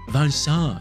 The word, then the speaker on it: Vincent: Yes, it is Vincent. That's how you pronounce his name. He said it himself.